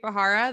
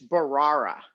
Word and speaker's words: Bharara: Yeah, but before he shows up, though, learn to pronounce his name. It's Bharara, not Bharara. I think you said Bharara.